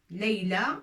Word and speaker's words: ليلى: حتى comme ça on la prononce pas ياء. c'est لا ليلى ولكن بألف مقصورة وليست ألف طويلة.